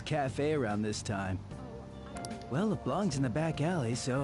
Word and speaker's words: Leblanc: I always pronounce it LeBlanc and I felt so stupid, but it's LeBlanc.